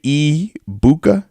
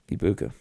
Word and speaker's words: Egbuka: H said they say ebuka ibuka ibuka so the g is silent then maybe that's what